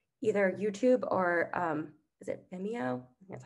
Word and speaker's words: Vimeo: You can embed either YouTube or is it Vimeo?